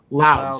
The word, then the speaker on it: Loudoun: Is that how you pronounce it? Loudoun County? Yeah. Loudoun.